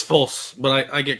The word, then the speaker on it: Fulce: False. Yes. It's pronounced false, but I've been called